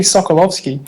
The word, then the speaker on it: Sokolowski: She's pronounced it Sokolowski. She's Polish, isn't she? That would be Sokolovsky.